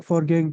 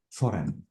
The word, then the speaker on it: foreign: lived in the for forgang Country uh no I haven't wait this is what for game the g is silent this is for Fore okay have you ever